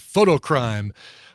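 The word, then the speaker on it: Fotocrime: punk band from Louisville called photo crime but it's spelled f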